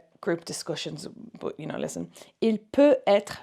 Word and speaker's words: peut-être: Il peut être, remember we only pronounce the T in between when there's a dash and it means maybe. So peut-être, when I can hear the T, it means maybe. Peut être, I cannot hear the T, that means like it can be, maybe.